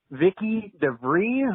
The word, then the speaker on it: DeVries: Number 3, 17 inch, Vicky DeVries, rhymes with cheese, when we talked about the star ceremony.